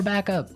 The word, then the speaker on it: backup: important hey yes yes you have to say backup Backup backup yeah so both words are stressed at about the same level hey mhm backup cuz